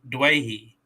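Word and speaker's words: Doueihi: during the game and from what Andrew Voss was teaching me it's Adam Dewey duahi yeah and I've been saying Dewey this whole time yeah now to to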